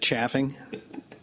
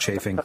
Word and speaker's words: chafing: Do you find that the wearing of leather buckskins daily on the river causes any kind of chaffing? I think it's pronounced chafing.